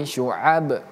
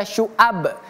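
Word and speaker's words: شعب: selanjutnya menggunakan huruf ain jangan sampai kita baca syuab tapi syua syua dan terakhir kita bertemu dengan huruf ba kalau dia sukun atau mati di sini kan kita matikan nih karena di sini kita berhenti. Jadi bacanya huruf ba itu memiliki qalqalah memantul syuab syuab ya memantul ab ib jadi bacanya salati syuab syuab memantul ab gitu kita lanjut ayat terakhir.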